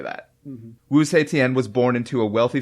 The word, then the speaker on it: Wu Zetian: But I'd like to hear how Zach pronounces her name. Give it to me one more time. Wu Zetian. Wu Zetian.